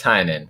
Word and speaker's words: Tynion: James Tynion.